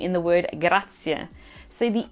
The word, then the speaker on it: grazie: And it sounds like e at the end of the word, so remember that, grazie.